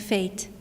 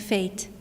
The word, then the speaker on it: fate: And fate, and fate, and fate.